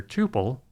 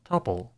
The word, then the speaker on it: Tuple: As a side note, this Data Structure can be pronounced either "Toople" or "Tuple".